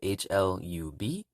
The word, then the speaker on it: hlub: So right at the bottom we have HLUB, which is pronounced hlu, hlu, which means to love.